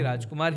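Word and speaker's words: Rajkummar: Same ऐसे राजकुमार राव का देखेंगे तो ए जोड़ा है उन्होंने, अगर ए जोड़ने के बाद भी अगर आप देखेंगे उनको राजकुमार राव ही, राजकुमार ही बुलाएंगे आप उनको।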